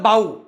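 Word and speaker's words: bow: एकाला म्हणतात बो आणि एकाला म्हणतात बाऊ बोऊ इंद्रधनुष्य आणि नमन करणे नमस्कार करणे फक्त उच्चार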